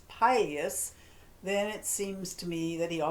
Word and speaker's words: pileated: Both pronunciations are correct, but I call it pileus because it's named for the pileus on the top of his head, the Latin word for that red crest.